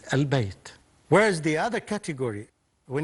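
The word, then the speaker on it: البيت: We read these letters, and it becomes quite obvious that this lam is pronounced. For example, Bayt, when we add to it alif lam, it becomes al-Bayt.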